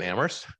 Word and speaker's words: Amherst: it's especially true in Amherst but I have to say the town where only the H is silent takes debate to a